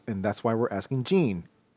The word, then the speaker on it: Jean: why we're asking gene still feels weird because that's still my mom's name ah pronounced as such too yes pronounced and spelled as such normally when i see that name it's i've always seen it pronounced as jean oh yeah yeah the uh the french masculine i don't know why